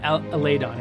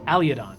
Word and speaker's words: Aliadon: So it's not Aladon, it's Aliadon.